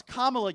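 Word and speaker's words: Kamala: Okay, so first of all, it's Kamla, you dope.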